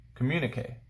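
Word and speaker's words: communiqué: Communique. So to pronounce it, communique.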